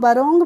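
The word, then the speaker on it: wrong: डब्लू आर ओ एन जी तो इसको हम रोंग पढ़ेंगे रंग तो नहीं पढ़ेंगे इसको क्या पढ़ेंगे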